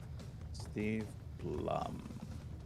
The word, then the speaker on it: Steve Blum: know he had a voice in this CH Steve Blum is the pronunciation ah okay no I did not know